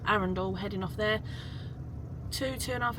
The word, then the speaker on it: Arundel: I always say it wrong. Arundel. I always say Arundel for some reason, but Arundel.